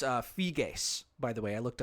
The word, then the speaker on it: Figes: And it's uh Fig, by the way. I looked up his pronunciation of his name and I still if I still have that name wrong, I apologize to Mr.